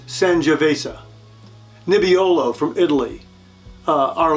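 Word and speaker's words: Sangiovese: vase I always mispronounce this one I always pronounce it San Jose but it's sanjavesa nibiolo from Italy uh our last red of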